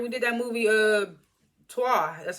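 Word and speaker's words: Trois: she was like we did that movie uh TWA that's how you pronounce it it's spelled t-r-o-i-s I only did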